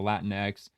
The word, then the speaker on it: Latinx: when it comes to Latin X. It's genderneutral. It originated from online LGBTQ and academic communities. and the pronunciation. While the X is pronounced like the letter X in English, the term can be